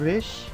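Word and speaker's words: ריש: Não é aquele som de R na ponta da língua, Resh, e nem aquele som de R fraco, Resh. É Resh, ele é arrastado.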